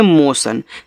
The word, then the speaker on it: motion: ठीक है, चलिए MOTION, इसको पढ़ते हैं मोशन। देखो TION को क्या पढ़ते हैं, सन पढ़ते हैं, ये आप नोट करके